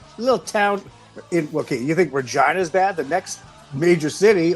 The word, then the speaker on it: Regina: Yes, that's the name, Regina, Saskatchewan. The city that rhymes with And- fun.